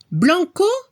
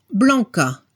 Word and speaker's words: blanc: Blanco, blanca. En francés se dice blanc, blanche. Cambiamos la letra C por CHE. En este caso la pronunciación es diferente. El masculino no se pronuncia la C al final, blanc.